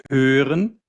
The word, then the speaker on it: hören: So hören, Ohren.